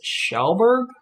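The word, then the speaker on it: Kjellberg: donaldson and that's mr beast felix and that's pronounced shelburg it's a it's swedish and that's pewdiepie let's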